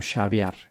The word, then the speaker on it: Xaviar: Según su abogado, Xavier pronuncia su nombre como Xavier, como caviar. Lo pronunciaré como Xavier.